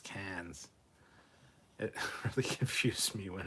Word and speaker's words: Cairns: SC Scout Guy, I never understood how in Australia the city of Cairns was pronounced Cairns.